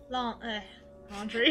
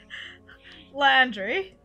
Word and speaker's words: Landry: Laundry. You're like, take a second, like, come back to it, and say it properly, and you do it again. Landry.